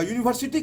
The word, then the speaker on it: यूनिवर्सिटी: यूनिवर्सिटी का उच्चारण जो होता है वो यू से नहीं होता है, तो ये जो है प्रोनाउन ये सॉरी वॉवेल ना होके कंसोनेंट है, ठीक।